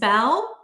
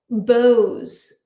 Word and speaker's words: bow: So in this case bow rhyme this bow rhymes with cow and I often wear big bows bow that rhymes with toe um or throw.